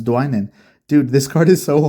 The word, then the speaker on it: Dwynen: Oh my goodness, I pronounced it wrong the first time. It's Dwynen.